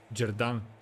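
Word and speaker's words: Xherdan: Yeah, so it's XH Jerdan.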